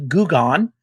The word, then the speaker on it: Gugon: 6, now there's a friendly slime named Gugon, pronounced Goo, G-O-O, Gone, G-O-N-E, Gugon, living in our paladin shield, giving him resistance to acid damage.